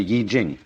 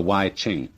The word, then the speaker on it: I Ching: the Book of Changes, called the Yi Jing, not the Wai Ching.